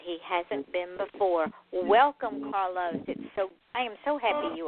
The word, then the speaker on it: Carlos: Roll that R. Carlos.